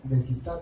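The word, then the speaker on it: でした: Nah itu formulanya begini, depan A wa B desta, desita terusnya bacanya desta ya.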